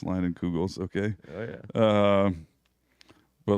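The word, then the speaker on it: Leinenkugel's: It's made by Leinenkrugers. That's a joke. It's a joke. Proud of it. I decided I've been posting pictures of my children on Leinenkrugers. on the Leinenkrugers. It gets people mispronounced Leinenkugels.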